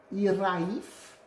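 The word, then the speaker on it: hiraeth: Et en fait, c'est un mot gallois qui se prononce Iraif et qui veut dire un truc genre nostalgie.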